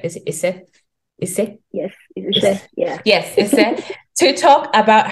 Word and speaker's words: Ise: Did I pronounce that right? Is it Ise? Ise? Yes, Ise.